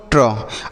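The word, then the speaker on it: true: जैसे टी आर से हो गया बच्चों ट्र, और यहाँ पर यू और ई का उच्चारण क्या होगा? बड़ाओं की मात्रा, तो इसे हम पढ़ेंगे ट्रू। क्या पढ़ेंगे? ट्रू ट्रू, BLUE तो इसे हम पढ़ेंगे ब्लू, क्या पढ़ेंगे ब्लू।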